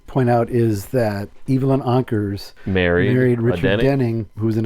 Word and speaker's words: Ankers: Everybody in the family pronounced her last name as Ankers, rhymed with anchors.